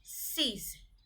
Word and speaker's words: six: It becomes SIX, sees.